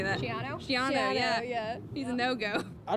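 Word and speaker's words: Schiano: Shiano, yeah.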